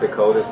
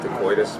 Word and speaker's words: Dakotas: I think it's pronounced Dakotas, not Dakoitus, but Whatever.